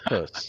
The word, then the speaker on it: Puss: I Well, lean over and I say it's pronounced pus.